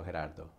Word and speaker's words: Gerardo: right actually it's a like Gerard with a no at the end and dispelling the phonetics would be G you change it for an age and that's it the soft G week on Spanish so her dad though ok that's my name